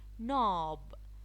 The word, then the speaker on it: knob: Knob, the K is silent.